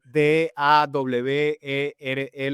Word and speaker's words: Dawere: Les tengo que explicar por las primeras entrevistas de radio que hice, yo decía, "D a w e r e lo tenía que pronunciar.